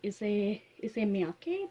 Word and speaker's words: Issey Miyake: Issey Miyake, that's how this pronounce it.